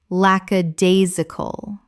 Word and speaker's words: lackadaisical: lackadaisical common mispronunciation lackadaisical correct pronunciation lackadaisical Five syllables with the stress on the third, meaning lacking enthusiasm.